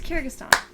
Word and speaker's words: Kyrgyzstan: It's Kyrgyzstan.